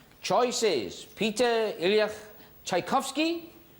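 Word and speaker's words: Tchaikovsky: wipeouts left can somebody tell me how to pronounce it the long one beginning with tle please are you talking about Peter IL chaikovsky that's the one all right choices Peter ilak chaikovsky passion okay what are the wipe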